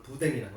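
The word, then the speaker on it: boudin: 프랑스식이 되겠지 프랑스식 순대 그걸 부뎅이라고 해요 예 그 발음을 이제 프랑스식으로 한 거예요 영 영어식으로 하면 부둥이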